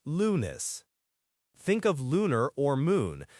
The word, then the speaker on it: lunes: All right, Monday is lunes, L-U-N-E-S, and it's pronounced lunes.